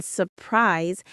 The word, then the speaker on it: surprise: Notice how the S in surprise has a Z sound.